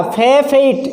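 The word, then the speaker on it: forfeit: फॉरफेट, इसका जो उच्चारण है वो है फॉरफेट, फॉरफेट, ये इसका उच्चारण है। प्रोनाउंसिएशन है इसका फॉरफेट। इसको फॉरफेट नहीं बोलेंगे, इसको बोलेंगे फॉरफेट। तो दे हैव फॉरफेटेड देयर फ्रीडम, उन्होंने अपनी आज़ादी को खो दिया।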